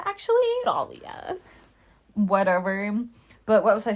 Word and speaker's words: Thalia: of Talia but anyway I'm saying Talia it's grammatically correct in Greek in Greek it's pronounced Talia actually Talia whatever but what was